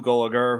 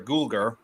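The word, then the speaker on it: Gulager: such as uh bir played by clue goer who I clue sorry guler I always mispronounced his last name he yeah Giger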